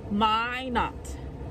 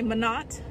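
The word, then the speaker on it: Minot: let y'all know but I figured out the proper pronunciation my not my not my not for whatever reason I want to say man not or Min not it's my not whistling it's my not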